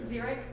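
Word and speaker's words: xeric: of in between um actually pronounce that zurich sega zerick zero that sounds like a z and seven x okay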